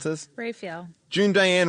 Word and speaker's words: Raphael: How do I pronounce this? Raphael. June Diane Raphael.